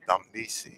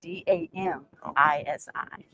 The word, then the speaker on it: Damisi: Damisi. Damisi. D-A-M-I-S-I.